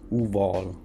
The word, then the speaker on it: Uval: Okay, so you see that Ubal is pronounced Uval, which is oval or egg shaped, from Latin ovum.